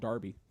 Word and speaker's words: Derby: That's why I said it wasn't a real English place, because it's called Derby, even though it's spelled Derby.